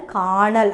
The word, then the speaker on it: காணல்: நிறைந்துவிட்டது அப்படின்னு அர்த்தம் சரி இந்த கண்ணலுக்கும் காணலுக்கும் நீங்க வந்து வித்தியாசம் பார்த்தீங்கன்னா ஒளியில கொஞ்சம் வித்தியாசம் இருக்கும் கண்டிப்பா ஏன்னா சரியாக இது இரண்டையும் உச்சரிக்கும் போது இதுக்கு சின்ன அளவுல ஒரு ஒரு வேறுபடும் இப்ப கனல் காணல் அப்படின்னு நான் இப்ப சரியா உச்சரிக்கும் போது ஒரு சின்ன மாற்றம் அடையுது ஆனா டக்குனு நம்ம கேட்கும்போது ஓசை ஒன்றாக அமையும் அப்போ கனல் இந்த கனல்